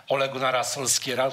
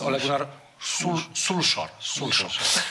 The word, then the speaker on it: Ole Gunnar Solskjær: powinno poprawnie wymawiać nazwiska, więc już u mnie nie ma Ole Gunnara Solskiera, to jest Ole Gunnar Solskjær.